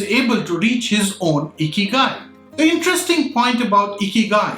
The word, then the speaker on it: ikigai: At this moment, I have to go back to the concept of Ikigai, that's pronounced Ikigai.